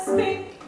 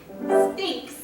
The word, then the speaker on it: Sphinx: You're as tight-lipped as an oyster, and as silent as an old Sahara spink. Sphinx. Huh? Sphinx. Spink. You spell it with an X.